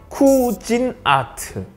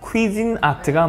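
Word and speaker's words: Cuisinart: 쿠진아트, 이게 정확하게 얘기하면 퀴진아트가 맞습니다. 퀴진 아트. 뭐래? 유럽 발음으로는 퀴진이라고 합니다.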